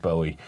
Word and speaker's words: Bowie: So yeah but people who say it Bowie it's wrong. They actually asked David Bowie how do you say it Bowie or Bowie? But he's named after the Bowie knife so it's Bowie.